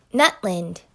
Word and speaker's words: Nutland: waveform of that recording nut land nut 'land you would see the complete absence of vocalization in the center so that's a glottal stop so that's where we are at on how to correctly pronounce so you see